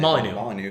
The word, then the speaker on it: Molyneux: Well, how do you pronounce his last name? Molyneux.